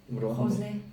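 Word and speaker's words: rosé: 이 여기 보시면은 이 분홍 색깔 로제 프랑스 현지 발음으로 호세.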